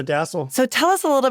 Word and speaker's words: DASSLE: Is it the DASSLE? Am I saying it correctly? You got it, the DASSLE.